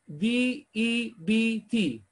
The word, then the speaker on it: debt: بص الكلمه اللي جايه دي وبص نطقها وهنعيدها، هي مكتوبة عند حضراتكم D-E-B-T تنطق debt. البي ما تطلعهاش في بقك يعني debt.